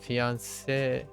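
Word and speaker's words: fiancée: Oh, fiance and fiance both are pronounced the same way.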